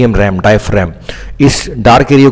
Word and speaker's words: diaphragm: ध्यान, डायफ्रैम, आर ए जी एम, इसको रैम बोलते हैं, डायफ्रैम, डी आई ए पी एच, डायफ आर ए जी एम, रैम, डायफ्रैम, इस डार्क एरिया को बोलते हैं डायफ्रैम.